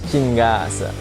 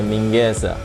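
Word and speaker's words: Chingaza: It is in fact named Parque Chinguesa, not Parque Mingueza.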